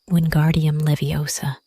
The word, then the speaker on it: Wingardium Leviosa: "You're saying it wrong. It's Wingardium Leviosa. Pay attention to the tone."